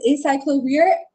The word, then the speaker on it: acyclovir: It is acyclovir. The first emoji was a cycle, and then you had a V in between, and the other one was an ear. So it's an acyclovir.